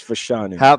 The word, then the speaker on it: Fashanu: For show, it's Fashanu.